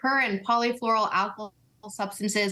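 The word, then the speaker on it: per- and polyfluoroalkyl substances: I'm sure I'm mangling the pronunciation. Per and polyfluoroalkyl substances? Yeah, you got it. Per and polyfluoroalkyl substances, more commonly known as PFAS.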